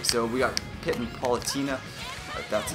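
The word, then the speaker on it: Palutena: Okay, so we got Pit and Paulatina.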